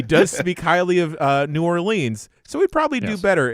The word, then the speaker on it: New Orleans: He does speak highly of uh New Orleans, so he'd probably do better if he met my silly criteria.